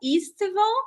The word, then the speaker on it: estival: So we're gonna see, well, Mural Estival now.